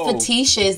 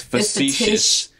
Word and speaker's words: facetious: But that's fetishous. That's not the same as... It's not fetishous. It's facetious. Facetious. Facetious. So I said facetious.